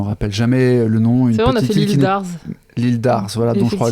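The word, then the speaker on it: Île d'Arz: jamais le nom une l'Î d'Ars voilà don je crois le Z ne se prononce pas on sait jamais voilà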